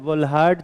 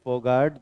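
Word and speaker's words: Volhard: Hello वोल्हार्ड Zelensky reaction नहीं बोलते हैं इसको, हेल फोगाट जेलिंस्की रिएक्शन बोलते हैं। ठीक है, हेल फोगाट, प्रोनाउंसिएशन इसका फोगाट है, लिखते वोल्हार्ड।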